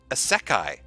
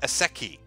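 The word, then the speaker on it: isekai: From Blue Satoshi, it's pronounced Asekai, not Aseki.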